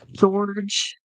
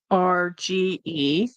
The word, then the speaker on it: Jorge: Um, George G-O. I think that's spelled wrong. G-O-R. Yeah, no, spelled right. Jorge.